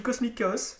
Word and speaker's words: Cosmic Chaos: Donc là, moi, je dis Cosmic Chaos, parce qu'a priori, ça se prononce à l'américaine.